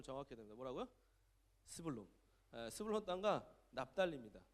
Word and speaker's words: 스불론: 발음을 정확히 해야 됩니다. 뭐라고요? 스불론.